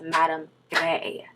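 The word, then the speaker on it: Madame Grès: embarrassed myself guys okay so her name is pronounced Madame Gray so sorry but yes madame gray is very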